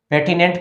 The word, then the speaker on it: pertinent: क्या पढ़ेंगे इसको, पेटिनेंट पढ़ेंगे।